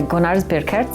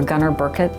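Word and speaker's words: Gunnar Birkerts: wonderful building designed by gonar burket who is or Gunner Burkett is depending on how you're pronouncing it in the laan or American way he is an architect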